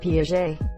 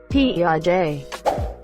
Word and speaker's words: Piaget: for the Swiss psychologist Piaget every town he calls it PI AG when it really has a French pronunciation kind of like PEO day Worcestershire kills me every